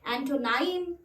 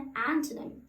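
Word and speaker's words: antonym: सो मैंने अक्सर लोगों को इस शब्द को एंटोनाइम, है ना, ये बोलते हुए सुना, जबकि वो एंटोनाइम नहीं होता है, उसका राइट प्रोनाउंसिएशन है एंटोनिम, एंटोनिम, एंटोनिम।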